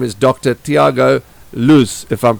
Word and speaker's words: Luz: Luz, or it's fine. Okay, so Luz actually is the correct pronunciation. Luz. Yeah. Luz, it means light.